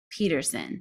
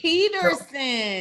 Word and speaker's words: Pedersen: And then my last name is pronounced Pedersen. So Pedersen. Pedersen, like peed her pants.